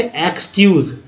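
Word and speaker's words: excuse: यहाँ से इसको एक्सक्यूज़ पढ़ते हैं, EX का उच्चारण है X की तरह, तो एक्सक्यूज़ बोलेंगे। तो जब भी ऐसा नहीं बोलेंगे EX ऐसा उच्चारण नहीं करना, X पढ़ना है सीधा, एक्सक्यूज़।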